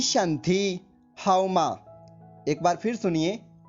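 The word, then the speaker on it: 身体: एक बार फिर से सुनिए, SHENTI, और इसका प्रोनाउंसिएशन कुछ इस प्रकार से होगा, शंथी शंथी शंथी।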